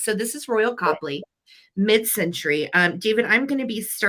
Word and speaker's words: Copley: I did not know if it was Copley or Copley, and phonetically it's spelled Copley, and that's actually how it is pronounced. So this is Royal Copley, mid-century.